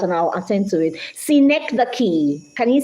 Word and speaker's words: synecdoche: Synecdoche. Can you say synecdoche? Synecdoche is spelled SYNECDOCHE, synecdoche.